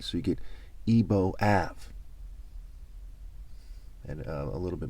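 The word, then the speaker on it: Igbo: the word Ebo, spelled E-B-O, which is another way to spell Ebo, which I-B-O, I-G-B-O, the G is silent, and E-B-O.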